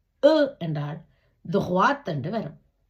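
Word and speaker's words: toit: அதாவது கோசோன் வந்தால் அவை உச்சரிக்கப்பட மாட்டாது ஆனால் விதிவிலக்காக உச்சரிக்கப்படும் எடுத்துக்காட்டுக்கு நான் போன வகுப்புல துஹ்வா சொன்னான் தே ஏ ஓ ஈ தே துஹ்வா இங்க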